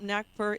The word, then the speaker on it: Nagpur: And you're originally from Nagpur, India. Yes, Did I pronounce it that's correct.